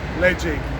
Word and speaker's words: Ledaig: Lead as in the metal and Jake as in the name. So Ledaig.